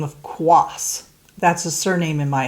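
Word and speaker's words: Quaas: if you have a name that is often misspelled like the name of quas that's a surname in my husband's family tree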